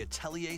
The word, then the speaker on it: Atelier: Oh, Atelier? Okay. This is weird. Well, there you go. Forward to the newest entry in the Atelier series. Oh, sorry, Atelier. That's how they pronounce it.